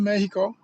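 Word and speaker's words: México: because I've been to Mexico. I've been to Méjico. Let me say it right. Say it official. I've been to Méjico.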